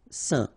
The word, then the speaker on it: saint: Alright, so final T not pronounced, and then when you combine this A-I-N here, you get the un sound. Saint.